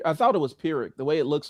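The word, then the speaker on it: Pyrrhic: I thought it was Pirick. The way it looks like I mean P Y R. It's it's Pirick.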